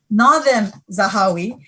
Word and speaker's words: Nadhim Zahawi: So without Nadeem, or actually the pronunciation of our minister's name is Nadhim Zahawi, who is an Iraqi-born